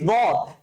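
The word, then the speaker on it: ضاد: আমরা কিন্তু আজকে দেখেছি দদ, এই দদের উচ্চারণটা কি দোয়াত, হ্যাঁ, দদ। বেসিক্যালি কি আমরা সোয়াদ দোয়াত বলি না, এই দদের উচ্চারণটা দ দিয়ে হবে। কি দিয়ে?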